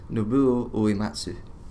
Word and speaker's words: Nobuo Uematsu: Nobuo Uematsu. Is that how you say it? Yeah. I've been wondering this for like 15 years. Nobuo Uematsu.